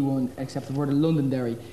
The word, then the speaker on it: Londonderry: It's the same as the RTE one, except the word of Londonderry. Here, the first 6 letters are silent.